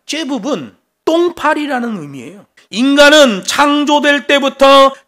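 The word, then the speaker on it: זבוב: 바알세불 그러면 이 세불이라는 말이 째붑이라는 말이에요. 원래 발음은 째붑입니다. 째붑은 똥파리라는 의미예요.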